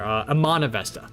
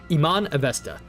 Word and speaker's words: Iman Avesta: Iman or Iman, oh wait, no, she said her name earlier. Iman Avesta, that's how you say it. Iman Avesta.